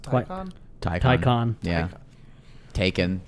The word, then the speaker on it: Taycan: Tyon. Ty. Tyon. Taken. It's spelled Taken but pronounced Tyon.